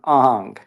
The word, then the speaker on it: Ingres: really admire is this guy named Ang and he his name is spelled ingress i n g r s and and actually my